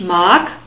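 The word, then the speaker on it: mag: each mark I like and the G is pronounced like a que once again each mark humbug 00 we have a soft s at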